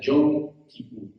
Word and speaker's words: Yom Kippur: Esto viene de un término hebreo que se pronuncia Yom Kippur.